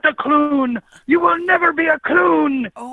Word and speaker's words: Clune: to correct you on my last name it's Clun no I'm sorry I'm sorry I'm not that